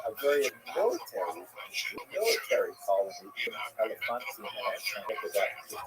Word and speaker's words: Elephantine: I always pronounce that, by the way, Elephantine. I looked a little more carefully. It's supposed to be pronounced Elephantine.